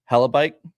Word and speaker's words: Hellebuyck: Alyssa Liu, Jack Hughes, or Connor Hellebuyck, I think is how you say his name.